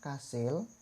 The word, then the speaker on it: kasil: I yang pertama tetap dibaca I, sedangkan I yang ada di kata kasil itu berubah menjadi E atau mendekati huruf E, kasil. Jadi bukan kasil, melainkan kasil.